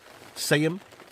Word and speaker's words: Seaham: Seaham, it's spelled. Seaham, that's what we say, the locals say it, Seaham.